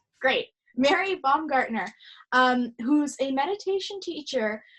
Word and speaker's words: Baumgartner: And today I'm so delighted to have with us Mary Bongartner. Is that right? Am I pronounced? That's correct. Great. Mary Bombgartner um who's a meditation teacher who used to